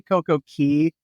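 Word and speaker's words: CocoCay: and just a just a note we say CoCo Key because right when we started saying Coco k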